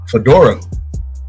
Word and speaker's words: Fedora: I'm pronouncing that correctly Fedora like a hat you're pretty much yep